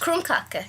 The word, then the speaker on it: krumkake: Is it actually, how is it pronounced? Krumkake.